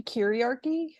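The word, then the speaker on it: kyriarchy: Yeah, first I would like to say I think it would be chiriarchy, based on Kyrios, meaning Lord.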